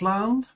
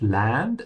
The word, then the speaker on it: Land: Also notice that land is pronounced with an open A. La. Yeah, it's not land, it's land.